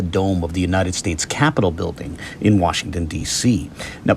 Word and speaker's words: Capitol: Note that it is Capitol with an O. It's not spelled with an A, rather it's spelled with an O. It sounds the same, but the spelling difference has a certain significance, right?